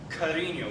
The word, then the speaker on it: cariño: to an English speaker, is the ñ, which in a word like cariño, which means love, you have that ya added to your normal n.